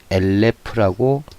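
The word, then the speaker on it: אלף: 그 다음에 3개이기 때문에 또 이것도 엘에, 마지막은 모음이 없을 때는 으 발음을 하고 패의 꼬리형은 피읍이 음가라 이렇게 엘레프라고 읽습니다.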